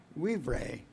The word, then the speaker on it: vivere: The Latin word for live is vivere. They pronounce the V as a W, but it's to live or be alive.